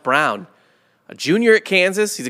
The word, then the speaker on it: Braun: and this is annoying pronounced brown it looks like braun yeah pronounced brown a junior at kansas